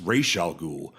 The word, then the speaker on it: Ra's al Ghul: And Talia's like, actually, my father's name is pronounced Ra's al Ghul, but many uneducated people make that mistake.